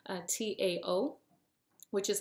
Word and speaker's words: Tao: was familiar with the Dow which is spelled it looks like ta with a t but I'm told it's pronounced da so almost like a d sounding uh Tao which is like a